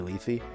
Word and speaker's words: Lethe: It's actually Lethe. You know what's funny is I've seen people pronounce it that way, and I just thought they were being obnoxious.